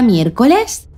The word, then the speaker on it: miércoles: Siguiendo esta norma, ¿llevará entonces Tilde la palabra miércoles? Sí. Miércoles lleva tilde la letra E porque es una palabra esdújula. Si os fijáis, su sílaba tónica es la antepenúltima.